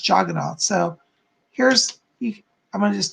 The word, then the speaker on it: Jagannath: your house Jed no sometimes it has an A at the end but it's pronounced jogging on so here's I'm gonna